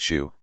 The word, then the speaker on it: Su: larger than extended families the Su pronounced Shu site near Reserve New